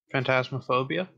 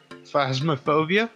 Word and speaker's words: Phasmophobia: Phantasmophobia? I'm up for some phasmophobia. I mean, I'll do it, but I want him to pronounce it right. Phasmophobia?